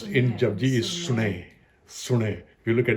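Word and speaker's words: ਸੁਣਿਐ: The way it's pronounced in Jabji is Sune. Sune. If you look at it, it's Syari. Not Suniye, it's Sune.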